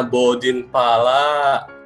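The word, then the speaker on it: Bordin Phala: Ini dibacanya Bodin Pala.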